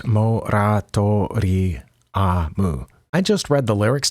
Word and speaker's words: モラトリアム: But today we're listening to Moratorium, or on the album, and I think on Band-Maid's official channel, it's spelled with the katakana letters, so it's basically 6 letters, Moratoriamu.